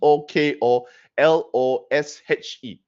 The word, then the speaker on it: Tokoloshe: Okay, so some people be asking how do you spell Tikolosh? Tikoloshe. Yeah, that is one of the spelling, and then also there's another way to pronounce it, but the one that I picked up is just another common one. There's Please spell it. Tokoloshe. Tokoloshe. Tokoloshe. Tokolosh. All right.